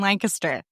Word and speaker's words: Lancaster: You got to put the kiss in Lancaster. That's a marketing mind right there. I tell you what. Uh Lancaster is home to the oldest continually operating what in the United States?